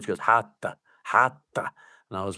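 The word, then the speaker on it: rato: She goes, Hata. And I was like, oh, Hata. And I was like, how do you spell that?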